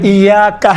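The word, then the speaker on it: إياك: ایاکا۔ اب یہاں پر ایاکا میں یہ کون سا حرکت ہے؟ چھوٹے حرکات ہیں یا بڑے حرکات میں سے ہیں؟ چھوٹا۔ آپ دیکھیں تلفظ کرتے وقت انشاءاللہ تعالیٰ یہ ملحوظ نظر رکھیں، ایاکا نعبد و ایاکا، کا نہیں ہے، کا نہیں ہے، ایاکا الگ ہے، آپ، نعبد ہم آپ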